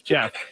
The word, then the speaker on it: Giff: coaching the team already it's spelled Giff and I forgot it was Jeff how can you spell